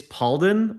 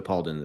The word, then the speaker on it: Palden: to people, I'm like, it's Paul with a den at the end.